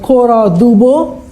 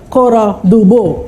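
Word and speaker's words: Cora Du Bois: This is called Cora Dubo, S is silent there.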